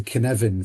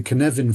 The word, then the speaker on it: Cynefin: But, that that model, Dave Snowden, he was working for IBM um uh in in the past, um is called the Cynefin framework, which is spelled c y n e v e f